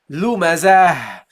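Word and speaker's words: لُمَزَة: So you go here from the zai to at-ta al-marbuta, but the ta al-marbuta is a letter, a ta, that you pronounce at the end as a ha.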